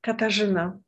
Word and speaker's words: Katarzyna: Well, the pronunciation is Katarzyna.